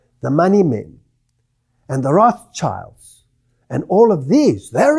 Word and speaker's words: Rothschild: It's a German word, and it means Rothschild.